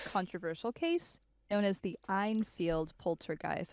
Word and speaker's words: Enfield: case known as the einfield poulter guys i think i'm pronouncing that correctly einfield or enfield i'm gonna say enfield and the reason why